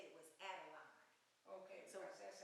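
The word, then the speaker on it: Adaline: the way the families always said it was Adeline.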